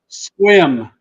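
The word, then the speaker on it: Sequim: there right is that accurate squim so from squim Washington can you say it out loud one more time for me squim s that's how it's pronounced okay Sim because I'll pronounce it wrong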